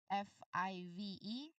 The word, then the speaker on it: five: You must be able to feel your bottom lip, vibrate strongly when you get to the V sound at the end of the word.